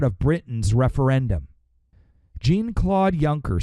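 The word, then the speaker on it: Juncker: right it's not junker it's it's junker but Alex Jones likes to call him junker as an insult it's kind of you know it's kind of funny because that's the way his name is spelled junker but it's actually what is it yunker or something yunker all right anyways he's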